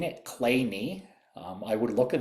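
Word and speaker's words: Kleene: Um Clay is pronounced the way I've been saying it, Clay. Um I would look at this and think that it was clean.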